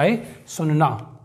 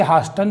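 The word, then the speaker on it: hasten: लिसन जिसका मतलब होता है सुनना हैसन ना कि इसे हस्टन पढ़ेंगे कई लोग इसे हस्टन पढ़ते हैं यह हैसन जिसका मतलब होता है जल्दी ऑफ ऑफ का मतलब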